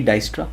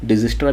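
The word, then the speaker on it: Dijkstra: फिर कुछ एल्गोरिथम जैसे कि डाइस्ट्रा, डिजिस्ट्रा भी कहते हैं, डाइस्ट्रा भी कहते हैं, तो अपना अपना तरीका कैसे भी प्रोनाउंस कर लो, डिस्ट्रा पढ़ेंगे।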